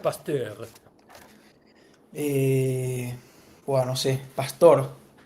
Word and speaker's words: Pasteur: Se escribe Pasteur, se pronuncia Pasteur.